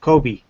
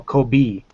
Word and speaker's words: Kobe: in the military, and they'll say Kobe, like Kobe beef, you know? Yes. And they don't understand that BE isn't pronounced B, it's be, you know, because B is BI, you know, Kobe.